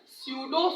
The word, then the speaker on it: pseudo: स्यूडो solid, स्यूडो की spelling P से शुरू होगी, पी साइलेंट होगा, PSEUDO, स्यूडो, स्यूडो सॉलिड।